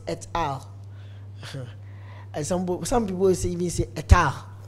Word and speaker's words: et al.: I remember one of my students was telling me that this is not al, it's et al.